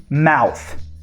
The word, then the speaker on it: mouth: Pronunciation, mouth. Exatamente. É com TH, tem que pôr a língua entre os dentes, aquela sopradinha, mouth.